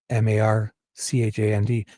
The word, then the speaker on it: Marchand: Canadian guy and his name is Brad Marand, M A R C H A N D. But he pronounces it Marchand because I'm sure he was